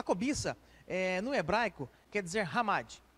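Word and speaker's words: חמד: no hebraico quer dizer hamad você vai ver escrito na sua revista chamade mas a pronunciar ramadi ela vai aparecer 14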